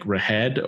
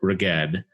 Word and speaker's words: Reghed: But it's Reghed. So I believe it's like Rahed or Reged, but I will say Rahed.